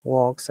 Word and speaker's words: work: is awesome wow but in british english this work not pronounce r in this case so the rule that